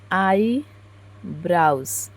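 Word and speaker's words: eyebrows: जैसे हमने लिखी थी कि आईब्रोज इन हिंदी प्रोनाउंसिएशन, तो देखिए आया है आईब्रोज का आई ब्राउज, आई ब्राउज, आई ब्राउज, आई ब्राउज है।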